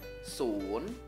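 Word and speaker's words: สูญ: Langsung kita baca ya, so sala bertemu sara u, karena so sala kelas tinggi, jadinya nadanya sia cetawa, su, su, ketemu nonu, jadinya sun, sun, ikutin ya, sun, nadanya siang cetawa atau nada bangkit, sun, sun, oke, kita lanjut angka selanjutnya.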